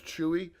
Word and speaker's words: Chuey: His user ID is Chewy. Pretty cool. CHUEY, the way it's spelled.